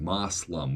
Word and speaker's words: Moslem: That, like, today we say Muslim, but back then they said Moslem with an O instead of a U.